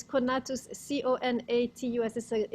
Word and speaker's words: conatus: it's there it's connatus c-o-n-a-t-u-s is a it's a latin word that spinoza uses which i don't know how you americans pronounce it but in the latin it's something like conatus so doesn't matter it's